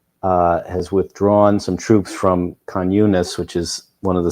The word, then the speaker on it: Khan Yunis: How do you pronounce that city? Khan Yunis. Khan Yunis.